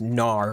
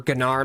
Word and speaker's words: Gnar: that is with Garrett next we've got genar I'm sure that's just pronounced Nar right or ganar maybe Nar or gennar Gnar yeah it is just Gnar okay I swore I